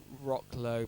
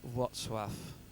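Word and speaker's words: Wrocław: It looks like Rock Low, but it's pronounced Watswaf. Watswaf or something.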